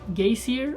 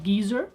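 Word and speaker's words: Geysir: to a place called gazier or Geezer depends on how you want to pronounce it thank you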